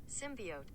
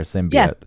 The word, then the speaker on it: symbiote: the hell that is pronunciation symbiot well symbiote the end yeah here it is symbiote could you hear that there symbiote symbiote yes that makes sense because the O and the t e yeah I I you